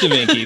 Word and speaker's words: Da Vinci: It's Da Vinci, please. Yeah. I'm sorry. You're right. I mispronounced.